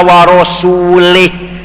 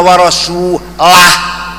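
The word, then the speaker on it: وَرَسُولُهُ: Yang benar bacanya innallaha bari'um minal musyrikina wa rasulah. Allah tidak melindungi orang musyrik, rasulnya pun tidak melindungi orang musyrik. Wa rasulah jangan wa rasulih.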